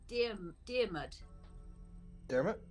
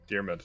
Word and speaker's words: Diarmid: It was Dearmud. Diarmid. Yep, that is correct. Diarmid. Yeah. Traditional Irish name that looks like it's spelled Dear Mund, but it's pronounced Dear Mud.